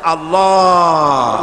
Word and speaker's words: আল্লাহ: পাকের নাম উচ্চারণ হচ্ছে আল্লাহ মুখটা একটু গোল হয়ে যাবে বলেন আল্লাহ আল্লাহ সুবহানাল্লাহ পৃথিবীতে বিভিন্ন